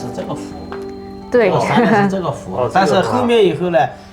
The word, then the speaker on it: 笏: À, nó được phát âm là "hu".